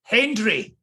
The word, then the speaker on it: Hendry: He thinks I don't mention the D in his name enough. So Hugh Hendry.